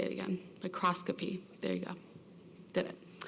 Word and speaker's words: microscopy: you tell me how to say it again microscopy there you go did it there's a microscopy